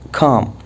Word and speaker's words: calm: ال هنا silent ما تنطق calm.